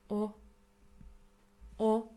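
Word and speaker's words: を: my means particle or o o this is a grammatical object marker it marks our grammatical object although we write it as w we pronounce it as o o it usually comes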